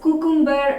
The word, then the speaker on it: cucumber: So we should stress the sound Q. Q. So most of the students pronounce the word as cucumber or cucumber. So it's not the right way. The right way is cucumber.